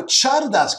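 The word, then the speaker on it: Csárdás: So Chikos is back, but now Chardas comes after cycle. Because in Hungarian, CS is a separate letter, actually with the same pronunciation as CH in Spanish.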